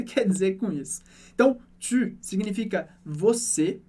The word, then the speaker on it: tu: Você pode pensar no som do i e arredondar os seus lábios, como no exercício que a gente fez antes, e chegar no som u.